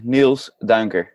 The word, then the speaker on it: Niels Duinker: on that one like there's a couple uh sounds in there that's it's not so common in the english language it's always confusing it's you spelled n-i-e-l-s